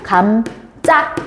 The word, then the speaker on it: 감자: 얘 어떻게 발음한다고? 감짜. 이렇게 됩니다.